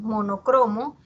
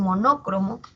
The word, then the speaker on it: monocromo: Como pasa con monocromo, que muchas veces las personas pronuncian monócromo, pero la forma que tiene esta palabra es grave.